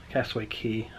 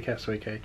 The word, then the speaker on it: Castaway Cay: Our first Castaway Key. I don't know why I always say Castaway Cay. Because it's the way it's written. That's the way it's spelled.